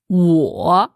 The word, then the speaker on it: 我: La prononciation, c'est wo. Wo. D'après toi, Florence, c'est quel ton? Alors, ça descend un peu et ça remonte pas mal. Donc, c'est du 3e ton.